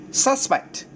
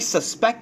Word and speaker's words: suspect: về mặt phát âm Nếu mà thấy phát âm là suspect được chưa ạ suspect a suspect thì là nghi phạm một thằng nghi phạm A suspect Nhưng nếu mà thầy Phát âm là i suspect that he sto it right i suspect that he stole it tớ tớ Tôi nghi